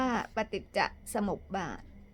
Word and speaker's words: ปฏิจจสมุปบาท: ดับ ทุกข์ หรือ นิโรธ คำ ว่า ปฏิจจสมุปบาท อ่าน ออก เสียง ว่า ปฏิจจสมุปบาท ถ้า ไม่ อ่าน ออก